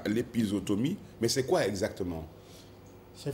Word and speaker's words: épisiotomie: Aujourd'hui, on s'intéresse à, vous prononcez souvent bien, les Garènes, l'épisiotomie.